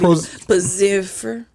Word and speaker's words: Pfizer: Pfizer.